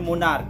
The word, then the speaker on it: monarch: Last में CH है, लेकिन यहाँ पे CH का प्रोनाउंसिएशन जो हम करते हैं वो क से करते हैं, है ना। यहाँ पे हम एस्टोमेच नहीं बोलते हैं, यानी कि च का उच्चारण नहीं होता है, यहाँ पे आपको क का उच्चारण होता है, इसलिए इसको हम लोग एस्टोमक बोलेंगे। ठीक है ना।